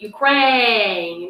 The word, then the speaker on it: Ukraine: When my like pet peeve is when people call Ukraine Ukraine. I don't understand why. Like, it's not like you can't pronounce Ukraine, right? Like you have to just, it's just a stress on the wrong syllable. Like you enunciate Ukraine, like crane.